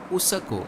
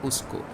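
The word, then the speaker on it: उसको: have schwa in them Nepali for example would call this word usako and not usko odia calls this word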